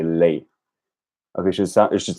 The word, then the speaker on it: lei: Make sure that when you say lei, to pronounce that last I clearly. It sounds like you're saying lei.